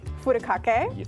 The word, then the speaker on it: Furikake: Furikake. There you go. You got it. You got the better pronunciation than I did.